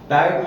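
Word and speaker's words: tight: टाइट माने कसा हुआ, टाइट में भी GH साइलेंट है।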